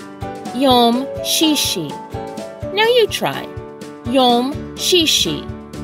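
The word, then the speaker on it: יום שישי: pretty simple to say in the Hebrew it's pronounced Yom shishi Yom shishi now you try yum shishi and finally we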